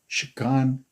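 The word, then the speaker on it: Škáŋ: The shape signifies the unused earth forces and something called scan sk pronounced shakan.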